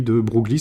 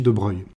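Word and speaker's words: de Broglie: grand physicien français Louis de brugly ça s'écrit mais on dit de Breuil alors on devrait s'arrêter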